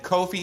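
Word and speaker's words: Ko-fi: Who specifically said Kofi is the way that you pronounce that word.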